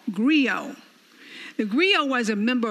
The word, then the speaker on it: griot: of west africa agrio let me spell it as g-r-i-o-t pronounced griot they were responsible for